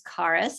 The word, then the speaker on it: Karis: If you haven't met me before, my name's Karis. It's pronounced Karis. The H is silent.